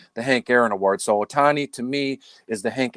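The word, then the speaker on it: Ohtani: So in the AL, I have Shohani. Is that how you say it? Otani.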